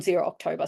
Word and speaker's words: ZerOctober: you see it written we sort of struggled how we'd pronounce it was it zero zober zero we just landed on zero October so pretend there's another o in there um but this is